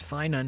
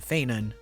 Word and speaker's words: Phainon: Like Castries, Fin has multiple pronunciations and we don't know what the canon one is yet. Fin and Fenin are both technically correct, so I'm just going to go with this for now.